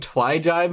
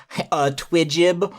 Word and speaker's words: Twyjibe: name, and everyone would always mispronounce it, like, Twidjib, or Twujub, or something like that.